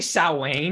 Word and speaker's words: Samhain: wayne was on the chalkboard did you say salwain yeah that's how you actually say it that's the correct pronunciation it's not it's not sam i don't